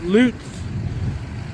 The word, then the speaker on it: Lutz: Here's the name of the company pronounced Loots.